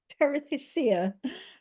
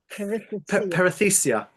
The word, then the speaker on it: perithecia: How would you break up the perithecia? How do you say that word again? Perithecia.